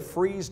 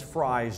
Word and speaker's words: Fries: Now, the trail splits at Freeze Junction, and out today we would have called this Fries Junction. Freeze changes its pronunciation according to the weather. When it's cold, they call it Freeze. When it's hot, they call it Fries.